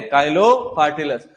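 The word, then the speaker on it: Chilo partellus: काफी सारे लोग चीलो बोलते हैं, लेकिन अपन प्रोनाउंसिएट काइलो से ही करते हैं उसको, भले ही चीलो लिखा हो, ठीक है। काइलो पार्टिलस।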